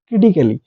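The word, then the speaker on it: critically: এল এবং ওয়াই থাকে এ এর পরে যদি ডবল এল ওয়াই থাকে তাহলে কোন ওয়ার্ডের মধ্যে এই যে এ আছে এটার উচ্চারণ আমরা করবো না তখন এটা কিন্তু সাইলেন্ট থাকবে যেমন এখানে ক্রিটিক্যালি দেখুন ক্রিটিক্যালি ক্রিটিক্যালি তো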